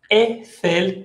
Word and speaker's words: Eiffel: EI se pronuncia E como la tour Eiffel.